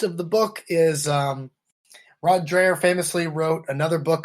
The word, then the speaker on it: Dreher: I think it's pronounced Dreher, from the American Conservative.